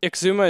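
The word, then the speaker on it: Xisuma: or something on this apparently we're pronouncing Exuma wrong no no no Exuma is right but I always say like shashwami and stuff because cuz Joe Hills one time was like schamy what how do you do this there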